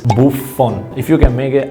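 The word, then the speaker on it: Buffon: korea if you can i know you don't pronounce the f but it is buff phone if you can make it otherwise bupon is okay too one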